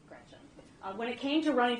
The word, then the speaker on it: Gretch: named after my grandma Gretchen, who I adore. It's funny, though, because she always said, never let anyone shorten your name. Don't let people call you Gretch because it rhymes with wretch.